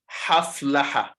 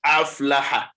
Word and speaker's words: أفلح: difference between the letters, many people tend to pronounce A and Ha the same way. Ha. They say haflaha. Sometimes aflaha. No, this is Hamza, and its point of articulation is where? It's in the deepest part. The deepest part of the throat. So we cannot pronounce it the other way.